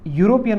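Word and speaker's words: European: आपण याला असं म्हणजे याचा उच्चारण करतो युरोपियन असं याचं उच्चारण असं प्रोनाउन्सिएशन करतो आपण असं नाही करत म्हणजे युरोपियन असं लिहत नाही आपण किंवा असं उच्चारण करत नाही आपण युरोपियन म्हणतो म्हणजे या उच्चारणाची सुरुवात जी झालेली आहे ती यन झालेली आहे य साऊंड झालेली आहे आणि य हा साउंड स्वर नाही व्यंजन आहे म्हणजे जेव्हा जेव्हा आपण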